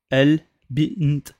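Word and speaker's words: البنت: Là, le Ba, c'est une lettre lunaire. Donc on va dire El Bint.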